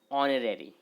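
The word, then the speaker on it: honorary: अब देखिए यहाँ पे ये जो क्या पड़ेगा, इसको ऑनरेरी। ऑनरेरी है ना, तो एच यहाँ पे फिर से साइलेंट है। प्रोनाउंसिएशन क्या हो रहा है, ऑनरेरी।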